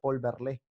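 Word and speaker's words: Verlaine: tributa rubén darío es volver line que se pronuncia volverle a un simbolista francés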